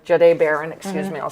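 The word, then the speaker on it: Jahdae Barron: I think we're going to go with Jiad Baron. Jade Baron, excuse me, I'll say his name right.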